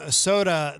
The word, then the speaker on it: Sotah: Brand new from Soda. The band is it's spelled Sotah, and that is called Sunrise.